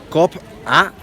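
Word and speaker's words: Cobá: Ahora vamos a ir aquí a Cop-A, que es la pronunciación correcta.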